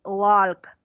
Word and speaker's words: walk: fuera fuera walk wow no me pronunciaré la l 26 walk wok la él es muda acá no suena por agua o golf